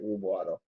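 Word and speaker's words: Rube: and um who was the other one and rub rub that's how you pronounce it rub so yeah they had a few key players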